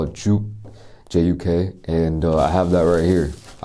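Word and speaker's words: 죽: I think it can be called kanji, or I don't really know the pronunciation. In Korean they call it juk, J-U-K, and I have that right here.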